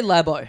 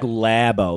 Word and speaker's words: Labo: It means like labo, like how they'd say lab in America.